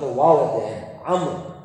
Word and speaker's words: Amr: Amr. Not Amru. It's Amr. That's how you pronounce it.